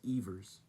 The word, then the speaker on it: Evers: All my life I thought it was Johnny Evers. Tinkers to Evers to Chance, but his name is pronounced Evers.